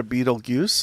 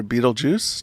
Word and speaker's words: Betelgeuse: All right, first story I'm going to talk about the star Betelgeuse, or Betelgeuse, depending on how you want to pronounce it. At least those two methods are correct, and there's a few other variations of pronunciation.